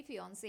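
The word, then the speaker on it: fiancée: तो चलो ये वर्ड लिखा हुआ है फिन से और एक्स्ट्रा ई के साथ वो फिन सी नहीं हो जाएगा वो भी फिओन से ही रहेगा। दोनों का प्रोनाउंसिएशन सेम है।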